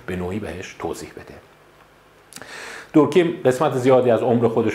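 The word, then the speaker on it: Durkheim: دورکیم سویساید. دورکایم هم گفتم میتونید تلفظش کنید.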